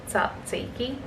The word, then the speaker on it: tzatziki: tzatziki on the side i always feel weird saying that word satsiki such a strange word to say i don't know why like i'm pretty sure that's how it's pronounced but every time i say it out loud i'm like is that right um and then i'm